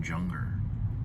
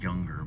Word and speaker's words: Junger: His name is Sebastian Junger, or Younger probably is another way of pronouncing it, for The Perfect Storm.